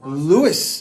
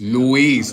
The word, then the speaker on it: Luis: So, Louis and Mira, Louis. Luis, not Louis.